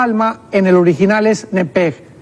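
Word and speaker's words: נפש: nepesh, pero la CH en el hebreo se pronuncia como J. Entonces podríamos decir nepej, con J. Entonces, la palabra alma en el original es nepej.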